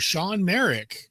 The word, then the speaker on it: Shawn Marek: Sean Merik. Am I pronouncing that correctly?